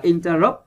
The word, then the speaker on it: interrupt: Rồi, các bạn đọc là interrupt. Rồi, vần 3 nha.